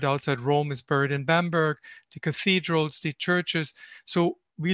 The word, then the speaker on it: Bamberg: gorgeous city in germany called bamberg i used the german pronunciation b-a-b-m-e-r-g it's one of